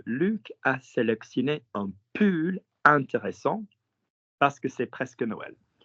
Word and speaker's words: intéressant: Intéressant.